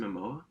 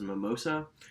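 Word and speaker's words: Momoa: movie um aquaman is i don't pronounce it right jason mamoa yeah that was perfect that was mimosa for the longest time he's my favorite really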